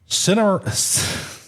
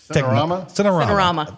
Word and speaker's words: Cinerama: Cinemarama. Cinerama.